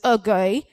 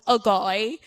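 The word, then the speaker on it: Ogoe: I saw an E at the end, so I wanted to make an attempt to pronounce it. So I went Ogoy, right? So kindly forgive me. It is Ogo, okay?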